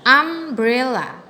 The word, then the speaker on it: umbrella: adalah sebuah apel lagi Umbrella Umbrella tulisannya uh pakai iu Om Dede ya Tapi bacanya a maka huruf yang pertama keluar adalah huruf a am rela maka dia